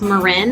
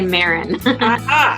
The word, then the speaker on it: Marin: with me oh and my last name is pronounced Marin that most people say Marin okay Marin yeah lived